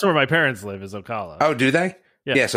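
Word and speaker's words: Ocala: but it's going to be how do you pronounce it osala was by Tampa whatever that is are you talking about Okala Okala yeah sure yeah yeah I guess so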